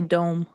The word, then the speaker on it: DOM: Is it pronounced Dom or Dome? It's pronounced Dom, because I know better.